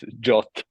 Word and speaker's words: JWT: I have I'm not I wasn't familiar with way you pronounce it jot okay JWT okay got